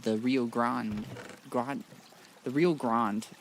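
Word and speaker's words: Rio Grande: The Rio Grand. Yeah, that's how you pronounce that. It's uh it's the American way.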